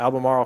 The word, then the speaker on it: Albemarle: property in Almera albamar how do you say Albemarle Oh Albemarle County Virginia this was actually would be determined